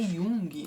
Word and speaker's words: Jung: uma jornada do Herói eu tô dizendo Yang mas acho que a pronúncia certa é Jung né Vamos dar uma olhadinha aqui o g não é nem pronunciado Então tá bom de